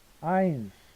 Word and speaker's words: eins: eins. 자, 요 발음할 때 두 개가 같이 나오면 이 발음인 거 알죠?